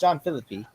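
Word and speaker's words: Jean-Philippe: He's calling John the Is it John Pierre? He called him John. It's John Philippe.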